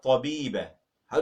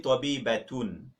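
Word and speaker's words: طبيبةٌ: It's actually tabibatun. But if you stop, it becomes tabibah.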